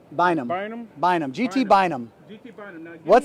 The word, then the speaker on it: Bynum: GT Burnham, is that how you say it? Bynum.